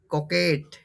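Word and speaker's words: coquette: বলকেট কোকেট বানানটা হবে কি উচ্চারণটা হবে কোকেট স্পেলিংটা দেখে নেবে এটাকে কোকেট বলা হয়কে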